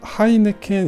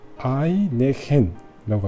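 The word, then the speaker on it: Heineken: 물론 뭐 이탈리아가 H가 무음이긴 하지만 H 발음도 못 하고 하이네켄 있잖아요. 맥주이 하이네켄 발음을 못 해요,이 사람들이. 그래서 H도 들어 있고 K도 들어 있잖아요. 그래서 아이네켄라고 합니다.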